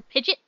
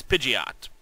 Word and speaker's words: Pidgeot: what to call it if it was Pidgeot or pidet it is Pidgeot yeah we we were